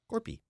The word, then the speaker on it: Korpi: Corpy. You just change it a little. There's a little twinge on there.